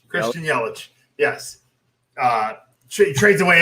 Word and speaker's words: Yelich: milwaukee christian yeah christian eurich or whatever you're pronouncing christian yelich yes uh she trades away everybody gets rid